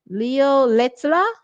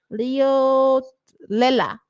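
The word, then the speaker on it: Leotlela: I've never pronounced his last name, you know. Leo Lea, Leo Leela, Leoa. Leoa, something like that.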